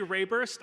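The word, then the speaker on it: Reburst: Uh I'm going to say Rayburst. I think it's pronounced rebirth. do the accent over the e thing. So, I'm going to say it how it's spelled.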